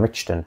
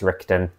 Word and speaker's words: Richten: and Dr Rudolph van richon or say richon but I know it's rton old habit forgive me if I say richon I mean rton and then if you're